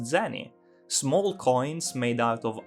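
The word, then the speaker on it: 銭: not exactly correct because it is true that the kanji can be pronounced sen but that indicates a specific currency that wasn't used until 1873 and just means sent a fraction of a yen during sakura's time period that word just meant something like spare change and was instead pronounced zenny small coins made out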